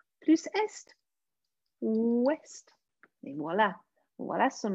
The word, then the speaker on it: est: Mais attention, parce que ici, il faut prononcer le S, T et le D.